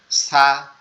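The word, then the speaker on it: ثاء: এখন আবার আমরা যদি খেয়াল করি যে সা এর উচ্চারণের স্থানটা আবার আলাদা। সা এর, সা যে হরফটা আছে এটার উচ্চারণের স্থান হচ্ছে আমাদের জিহ্বার আগা, এটা সামনের দুই দাঁতের আগার সাথে লাগবে, সামনের দুই দাঁতের আগার সাথে লাগবে, লেগে হালকা নরম আওয়াজ হবে সা সা সা সা সা, এভাবে।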